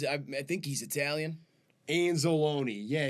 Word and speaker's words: Anzalone: I think he's Italian anzalone yeah his name rhymes with Cal zalone I would hope so